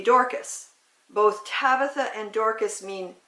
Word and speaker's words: Dorcas: read that oh well tabitha was the way you say her name in the aramaic language that they talked back then if you were going to say the same name in greek it would be dorkas both tabitha and dorcas